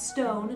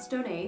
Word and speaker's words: Stone: That's Stone, not Stone-A. The accento is silent.